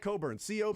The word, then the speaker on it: Coburn: No, I'm pretty sure it's spelled exactly like Coburn.